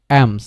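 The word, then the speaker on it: alms: কোন ভাল নেই দ্যাট ইজ হয়াই কি হচ্ছে আমস মানে এলটা অচ্ছারিত হবে না আমস কি বলব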